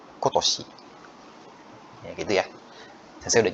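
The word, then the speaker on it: 今年: Jadi minasan bisa lihat ini kanji ima, ini juga ima, ini ima, tapi bacanya beda semua. Ini bacanya kyo, ini bacanya kong, kongetsu, ini bacanya kotoshi.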